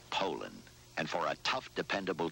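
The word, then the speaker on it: Poulan: for over 30 years they've been mispronouncing so we'd like to remind you that our name is poland and for a tough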